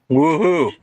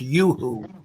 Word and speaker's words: Yoo-hoo: Woohoo! Yeah, it's Yoo-hoo candy bars. No, it's Yeah. Yoo-hoo. I was saying, It's pronounced Yoo-hoo.